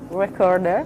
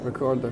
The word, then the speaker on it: Wreckorder: So I would like to know, before I get wrong, how do you pronounce it? All right, where it's called the Wreckorder. name Wreckorder. Wreckorder. Wreckorder.